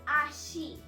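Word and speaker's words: あし: Today's last word is leg, which in Japanese it is known as Ashi. A-S-H-I.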